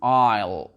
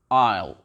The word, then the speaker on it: isle: Ici, la lettre S, pareil, on ne la prononce pas, donc ça donne island, island. Et ici, isle, isle.